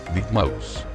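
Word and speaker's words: deadmau5: mismo color puesto tres de Mouse pronunciado como ratón muerto en español es un DJ y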